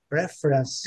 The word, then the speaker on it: preference: Gente, aqui, ó, preference. Eles têm a mania de encurtar a palavra, né? Aqui, ó, France. A palavra é grande, ele dá uma, coloca aqui, a sílaba no início e reduz o resto, né?